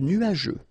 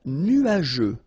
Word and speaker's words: nuageux: Un ciel couvert, un ciel nuageux. This can be quite tricky, but take the time to nuageux. Remember, final X here, not pronounced.